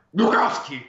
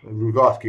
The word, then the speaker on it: Glukhovsky: e di tutti i Però videogiochi della serie pronuncialo Metro. bene. Glukowski! Glukhovsky, così, ok.